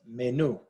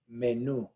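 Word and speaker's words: menú: this word is pronounced menu menu now so hopefully you heard the inflection at the end new is the stressed syllable now this ends in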